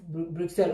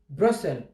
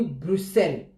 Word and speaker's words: Bruxelles: On ne prononce pas X, Bruxelles. On prononce comme si c'était deux S, Bruxelles.